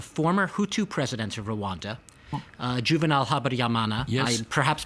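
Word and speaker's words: Juvénal Habyarimana: You're talking obviously about, when you say you told the president, you're talking about the former Hutu president of Rwanda, Juvenal Habyarimana. Yes. I perhaps pronounce his name wrong.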